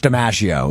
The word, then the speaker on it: DiMaggio: It is said like one of the most famous baseball players to ever live.